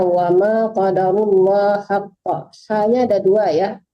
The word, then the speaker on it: حق: War bacanya wama qadarullah haqqa. Hanya ada dua ya. Pertama ha besar, yang kedua ha kecil. Ya, harus dibedakan membacanya.